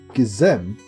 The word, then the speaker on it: Gizem: You can put stress on the second syllable of my name. Gizem.